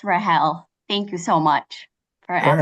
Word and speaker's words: Rahel: Help me out with the correct pronunciation of your first name. You are right. It's Rahel.